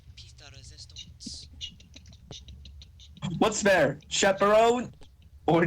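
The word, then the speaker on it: pièce de résistance: It's a piece of the resistance. No, it's pronounced piece de resistance.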